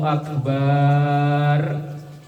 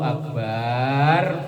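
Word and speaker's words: أكبر: Kalau qala Allahu Akbar, ba-nya panjang lam tan akid salatuhu, maka batal salatnya.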